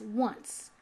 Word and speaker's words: once: And then for once, putting a C before the E in one has the C make the S sounds. That's why it's once.